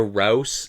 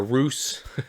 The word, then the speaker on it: ROUS: I will say that there is a Rouse in this story. Not if you know the reference from, or a Roos, I guess, depending on your pronunciation, from The Princess Bride.